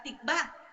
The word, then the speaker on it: tikvah: Y la palabra esperanza es la palabra tikvah, T-I-C, B pequeña, acento en la A.